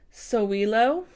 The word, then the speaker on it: Sowilo: with your fellow man next here we have so we lo and it is spelled s o w IL o and this